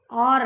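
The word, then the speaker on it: hour: ஓயூஆர் வந்து அவர் சொல்லுவோம் இல்லையா, இதை வந்து ஹவர் சொல்லுவோம், ஆனால் இதை ஹவர்னு சொல்லக்கூடாது, ஆர் அப்படின்னு சொல்லணும். அதாவது ஆறுங்கிற மீனிங்கில் வரும், சரிங்களா. அப்போ ஆறுங்கிற மீனிங் வரும்போது என்ன ஆகுது, ஹச் வந்து சைலண்ட் ஆகிடுச்சு, வவ்வல்ஸினுடைய உச்சரிப்பை கொடுக்குது.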